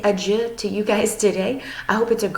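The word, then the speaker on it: adjö: So that ending sounds more like the French. So again, in Swedish it is adieu. Add that J sound in. So I'm going to say adieu to you guys today.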